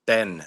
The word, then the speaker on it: Benge: it to be pronounced Ben now. Ben. So it's a silent G. Yeah, silent G. Okay, Carson Apparently, Ben.